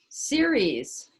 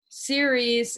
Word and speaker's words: Ceres: the fourth asteroid goddess ceres as you can see it's spelled like cereal for she's the earth mother the earth goddess and you'll see around her symbol they're actually little leaves ceres is the earth mother